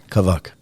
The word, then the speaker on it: Kavak: How do I pronounce this? Kavak.